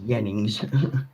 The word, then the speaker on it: Jennings: Well, the J's here are pronounced like a Y. So, like, my name Jennings becomes Jennings.